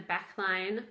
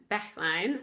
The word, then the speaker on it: Backline: if you're watching, that she was like, Backlin? I don't know how to pronounce this. And I totally understand. It's in German. Backline is how you pronounce that.